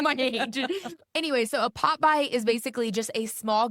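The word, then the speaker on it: Pop-By: So what a pop buy is, it's spelled Popby. 2 different words. People think I'm saying Popeyes, like the chicken.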